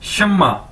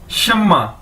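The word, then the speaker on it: 什么: के एक नाम भी है शम्मा ठीक है शम्मा शम्मा इसको कैसे बोलेंगे शम्मा और इसका मतलब क्या है व्ट यानी क्या ठीक है शम्मा मीन व्ट यानी क्या शमा शमा तो अब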